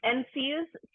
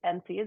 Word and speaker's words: NCEAS: logo up here um NC's we pronounce it NC is it stands for the